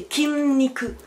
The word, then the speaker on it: 筋肉: petit nicu c'est pas qui ni coup c'est qimni que kimi que donc ça ça veut dire muscles